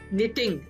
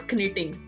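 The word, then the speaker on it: knitting: निटिंग, नॉट कनिटिंग, इट्स निटिंग।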